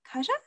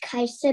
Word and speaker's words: Kaja: i'm not blaming you but my name is kaiser because it's swedish oh very nice hi